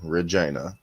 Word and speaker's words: Regina: the town sign and everything the city that rhymes with fun Regina but then you know we we got all